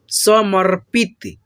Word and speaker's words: समर्पित: इसीलिए हम लोग समर्पित प से पहले र का पढ़े हैं, ठीक है। र का उच्चारण किया है।